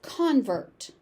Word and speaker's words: convert: So the stress moves depending on how it is being used. As a noun, it's convert.